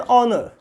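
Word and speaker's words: honour: उसके बाद क्या है एन ऑनर। ऑनर, एन ऑनर, एच जो है साइलेंट है।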